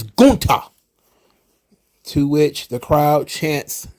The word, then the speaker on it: Gunther: pronunciation of his name it is not gunther it is guta to which the crowd